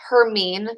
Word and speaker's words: Hermine: tropical storm hermine uh hermine so her as in her and then mean as in you're being mean to me that's kind of how you pronounce this one um this formed yesterday